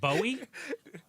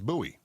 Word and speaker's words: Bowie: Are you sure it's not Bowie? It's spelled It looks like Bowie, but Well, no, it's Buoie. It's named after the the Frontiersman, not the English pop star.